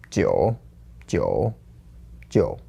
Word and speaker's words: 九九九: 九, 九, 九. Okay, do it with tone change really quickly. 九九九. Yes! And then do it with tone change really, really slowly. 九九九.